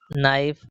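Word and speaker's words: knife: यदि एल से पहले और वर्ड के शुरू में के हो तो के साइलेंट होता है। फॉर एग्जांपल के लिए जैसे नाइफ नॉलेज नोक।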